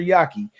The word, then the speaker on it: Yaki: I said his name wrong Hmm. in the beginning, but his name is Dr. Yaki.